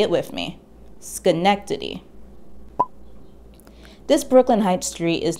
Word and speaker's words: Schenectady: the dutch name skrimmerhorn pronounce the sch in the front of the word the same way that you'd say in the word school now say it with me schenectady this brooklyn heights street